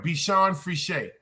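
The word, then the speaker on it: Bichon Frise: free shade my fault thank you for breaking that down be Sean free Shay cool he said that's how you pronounce it it's a feminine poodle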